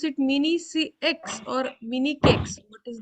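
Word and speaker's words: Mini-CEX: Pronounce it mini CX or mini cakes.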